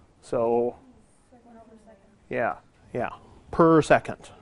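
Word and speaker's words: s⁻¹: so yeah yeah yeah per second right so you call that s minus1 okay that's pronounced per second um the unit of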